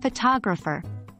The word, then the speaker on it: photographer: the word for instance in the word photograph the stress is on the first syllable while in photographer the stress moves to the second syllable so as a Hebrew